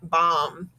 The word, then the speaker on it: bomb: silent d at det and then i see the m so i know it's gonna be silent bomb okay so silent b is after an m